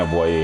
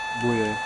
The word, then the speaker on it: Boye: wanted fucking Robinson and a boy. I'm like, boy, if you don't get the fuck out of here. I don't know if that's, is that how you say his name? A boy? Boye. Number 6 over here.